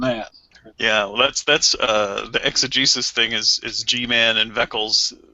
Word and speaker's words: exegesis: Or they'll slip in that word, well, that's not the exegesis of it or something. Or you don't know the history of the people or this and that. Yeah, well, that's the exegesis thing is G-Man and Veckel's go-to line.